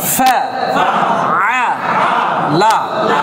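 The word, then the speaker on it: فعل: তারা তারা কাইফা কাইফা ফা আ লা একসাথে ফাআলা ফাআলা আবার বলেন ফাআলা আইনের উচ্চারণটা হচ্ছে হলকের মধ্যখান এই যে গলার মধ্যখানে একটু প্রেসার দিতে হবে আ আ আ ফাআ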